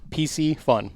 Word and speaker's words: Piscifun: that name came awesome easy way to pronounce it I was tell people Reese's PCs PC fun that's right easiest way to do it so excellent that